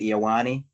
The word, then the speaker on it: Ioane: I found some Penn State analysts talking about it, and it was Oliva Vanga Ioane. And so I'm locking it in.